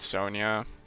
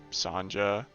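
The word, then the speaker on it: Sonja: I do say Red Sonia or Sanja. Her name is spelled with a J, but I can't like I'm not sure. I heard someone say it was Sonia cuz she was in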